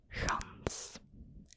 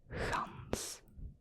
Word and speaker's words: gans: Gans. Soft G again. Gans.